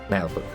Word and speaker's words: Naheulbeuk: trailers to this to find out exactly how they pronounce it and it's nail book looks weird to me